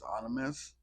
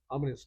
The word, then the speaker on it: ominous: it's dark and anous I don't think that the real the real word is anous ominous tones ominous dark and ominous